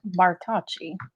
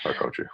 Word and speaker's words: Bartocci: The last name is pronounced Bartocci. So it's like the bar, ta, and chi. Bartocci.